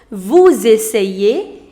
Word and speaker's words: vous essayez: Nous essayons, vous essayez, ils essayent et elles essayent.